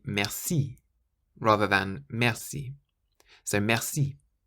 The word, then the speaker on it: merci: Always emphasize the last syllable, and you'll instantly sound more French. So we've just said the word merci means thank you or thanks, and you stress the last syllable, merci.